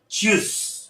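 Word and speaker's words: tschüss: Combination सी है जिसकी sound होती च। उसके बाद देखिए आएगा यू, यानी ये क्या बन जाएगा च्यू, च्यू। और उसके बाद एसेट है, वैसे आजकल वो डबल एस से ज्यादा लिखते हैं, लेकिन बहरहाल वो हो जाएगा च्यूस। So this is the right pronunciation for choose.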